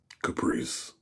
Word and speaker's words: Caprice: Caprice. Just like the car.